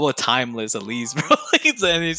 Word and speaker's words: TimexLess: it on that okay so the x is silent timeless i'm still timeless but